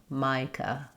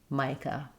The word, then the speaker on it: Micah: In Micah, letter I says the I like in might and letter A says uh again. Micah. Micah.